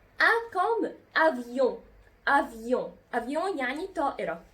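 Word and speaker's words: avion: أ كوم أفيون. أفيون يعني طائرة. خدتوا بالكم أنا نطقت الأو إن اللي في أفيون إزاي؟ أفيون أون. نطقت الأو إن أون.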